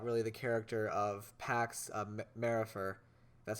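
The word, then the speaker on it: Maripher: And going back, we haven't even talked about really the character of Pax Marifer. That's how you pronounce his last name.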